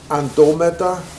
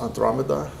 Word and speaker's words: Andromeda: missing gene functions so ando meta that i tend to pronounce andromeda there's a missing r in there it's like that but they it uses multiple